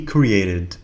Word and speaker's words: created: He created a new video. He created a new video. هو أنتج أو ألف فيديو جديد. لاحظوا هنا أن تي تلفظ كدي خفيفة.